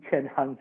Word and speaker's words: Cheng-Han: from star wars and if you combine their name together jackie chen han solo that middle part you can time that's how you would pronounce my name and i'm very excited